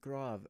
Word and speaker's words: grave: It's grave. It's a grave mark. Oh. But it's spelled Grav, so it could be grav.